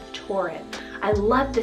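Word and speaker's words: Torrin: option here is the name tauren t-o-r-r-i-n tauren i love the sound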